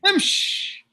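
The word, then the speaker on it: امش: يمشي يمشي Imsh. They even because it's the end of the word, they don't pronounce the kasra, so they suffice with a sukoon.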